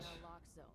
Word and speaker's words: naloxone: Naloxone reverses an opioid overdose, even if you mispronounce it. For the record, it's What? naloxone.